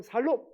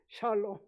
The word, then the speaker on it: 샬롬: 이 샬롬이라고 발음해야지. 점 하나 빼면 살롬 이렇게 되면 죽일 놈 살롬 이렇게 인사하면 안 됩니다. 샬롬.